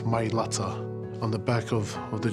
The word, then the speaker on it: Mailata: they're representing our family named them mylata that's the correct way to say guys my latter on the back of